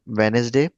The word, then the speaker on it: Wednesday: For example, um Wednesday in Wednesday there is a letter D which is silent.